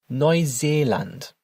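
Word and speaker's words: Neuseeland: No Zaland.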